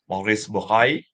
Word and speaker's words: Maurice Bucaille: Like in French, I think you should pronounce Maurice Bucaille.